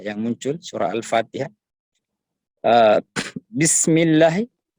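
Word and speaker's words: بِسْمِ: ketikan yang lain yang muncul surah al-fatihah habis bismilahi bismilahi Hirohman Nirohim ada kita pakai empat harakat Yang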